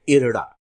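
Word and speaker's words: IRDAI: आर डी ए आई लेकिन अखबारों में जब आप पढ़ेंगे तो इसका उच्चारण इरडा इरडा के रूप में किया जाता है रडाई के रूप में नहीं किया जाता तो इसका हिंदी अनुवाद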